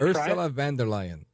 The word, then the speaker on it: Ursula von der Leyen: The EU Commission president, you did a good job of pronouncing her name earlier when you to start. I'm not going to fake it. Ursula von der Leyen.